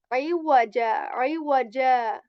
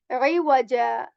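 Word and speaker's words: عوجا: as well that this, whenever we are going to pronounce wow, we are going to make our lips round, like iwaja. Okay, this jim sound is just similar to the j sound of English, iwaja.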